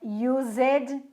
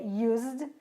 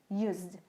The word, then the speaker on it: used: Não é used, é used, com som de z, esse S, used.